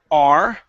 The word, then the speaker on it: are: All right, let's go to the word are. Okay, so instead of saying har, it's are.